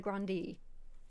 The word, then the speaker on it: Grande: so like ariana grande her name is actually aaron agrandi apparently i thought it was just ariana grande nope grundy apparently is what she said okay